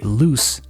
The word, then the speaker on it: loose: Now, when I say loose, as in suelto, the sound I make is different. Loose. This S sound is unvoiced. We only need our mouths to make this sound, not our voice.